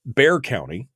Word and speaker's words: Bexar: in uh bear count it's spelled Bexar County and I pronounced it Bexar County but I was corrected in the chat room that it's bare I apologize I didn't